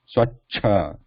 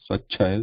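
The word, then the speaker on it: स्वच्छ: So the cha going from left to right, cha, the vertical line is lost, so it is just a consonant. Then there is a cha with the sound at the end.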